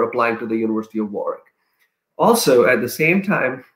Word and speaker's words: Warwick: you know is spelled as warwick but the pronunciation is warwick so just fyi they have a scholarship called